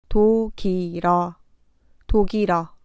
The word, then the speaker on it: 독일어: 일의 받침 리을이 마지막 글자의 자음 자리에 오도록 발음하면 됩니다. 독일어, 독일어.